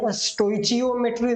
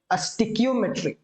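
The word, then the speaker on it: stoichiometry: स्टिक्योमेट्री इज STOICHOIMETRY, right. This is स्टिक्योमेट्री। इसे स्टोइचियोमेट्री नहीं पढ़ेंगे, राइट। दिस इज रेड स्टिक्योमेट्री, ठीक है।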